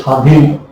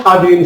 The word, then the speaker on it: স্বাধীন: কিন্তু বফলার কোনো উচ্চারণ নেই, যেমন যেমন যেমন যেমন স্বাধীন, স্বল্প ইত্যাদি। কিন্তু আছে একটা, এই কিন্তুটাই জরুরি, এই কিন্তুটাই কি জরুরি। এই কিন্তুটা হলো, আবার বলি, বফলার কোনো উচ্চারণ নেই, যেমন স্বাধীন, স্বল্প ইত্যাদি।